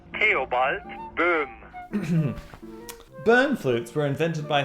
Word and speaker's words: Theobald Boehm: I'm here to settle this controversy on the correct pronunciation of my great-great-grandfather's name. In the future, when referring to him, please try to say Theobald Boehm.